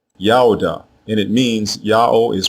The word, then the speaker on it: Judah: Both of these versions are pronounced the same way, Yaoda, Yaoda, and it means Yao is praised.